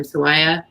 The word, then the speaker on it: Sawaya: How do you pronounce his last name? Sawaya.